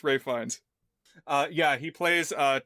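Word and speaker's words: Ralph Fiennes: I mean it's spelled like Ralph Fiens but it's Ray Fines.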